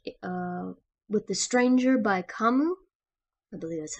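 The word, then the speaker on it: Camus: for this week uh with the stranger by kamu i believe that's how you say his name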